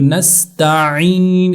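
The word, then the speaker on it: نستعين: ہیں نستعین، ایاک نستعین، تو نستعین اس طرح عین گلے سے عین نکالیں گے تب جا کر اس کا صحیح طور سے تلفظ ہوگا، اہدنا الصراط المستقیم۔ اسی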